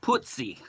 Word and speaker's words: Pozzi: In Italian, it's pronounced puzzi.